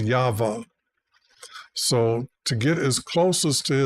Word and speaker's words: Yahweh: The Hebrews have a way they pronounce each of these letters, and I believe it is Yahweh.